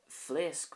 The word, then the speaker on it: Phléasc: Next we have this here, which is a PH. So if these are the first two letters of a word, this is pronounced with an F sound, an F sound. An example would be Phléasc mé amach ag gaire.